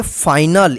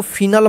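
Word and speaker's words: final: आई एन ए एल इसको पढ़ेंगे फाइनल इसको फिनल मत पढ़िए ठीक है फाइनल पढ़ा जाएगा देखि इसमें ई नहीं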